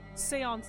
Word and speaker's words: séance: Seance. It's pronounced seance.